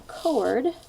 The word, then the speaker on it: chord: you've got a cord so it's spelled CH Ord like a chord you play on the piano right music but that